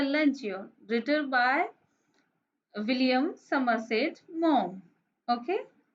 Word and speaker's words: Maugham: written by William Somerset Maugham. Okay, here the spelling is Maugham, but it is pronounced as mom.